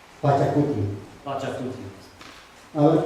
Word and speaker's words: Pachacuti: y su nombre es Pachacuti. It's called Pachacuti. Pachacuti. Pachacuti. A ver, pronunciamos todos.